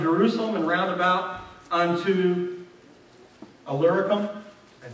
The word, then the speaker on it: Illyricum: "So that from Jerusalem and round about unto Illyricum," I said it right, "I have fully preached the gospel."